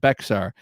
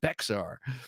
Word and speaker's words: Bexar: I almost butchered the Texan language and said Bexar, which I did say a number of times before I was handily corrected. And that's one that you kind of feel like, ooh, wow, I'm such a Yank. Bexar. Good to know. 7 knives.